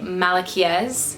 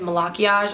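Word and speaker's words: Malachiasz: And then we have this guy who I like to say Malachiez, but his real pronunciation is Malachiage. I watched this video where the author pronounced it.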